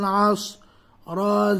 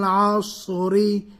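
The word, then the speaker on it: العصر: সাদ জবর আস ওয়াল আস রা জের রি ওয়াল আসরি অক্ফ করলে কি হবে ওয়াল আসর ওয়াল আসর ওয়াল আসর। অনেকে বলেন আসর, আসর হবে, আইনের উচ্চারণ হবে, কিসের উচ্চারণ হবে আইন।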